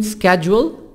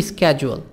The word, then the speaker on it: schedule: كلمة schedule هي نطقها الأمريكي schedule، لكن نطقها البريطاني schedule. يعني في نطق البريطاني تبقى الاس هي اللي silent. 10.